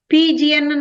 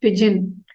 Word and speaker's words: pigeon: The pigeon, PGN எல்லாம் சொல்லக்கூடாது. Okay, the correct pronunciation is pigeon.